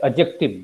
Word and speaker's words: adjective: इसमें D silent है एडजेक्टिव में।